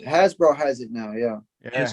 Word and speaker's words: Hasbro: hasbro i believe so that's pronounced hasbro has it now yeah